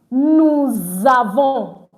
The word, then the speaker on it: nous avons: Normally, I said we don't pronounce our S.